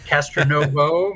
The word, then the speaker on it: Castronovo: about being Italian so definitely pronounce the o yeah Castro Novo means I mean honest